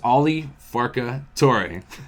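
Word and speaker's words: Ali Farka Touré: You spell it wrong. It's Ali Farka Toure.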